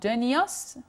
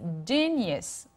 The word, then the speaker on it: genius: Okay, it's not genius. No, never. عمرك ما تقولها كده. It's genius.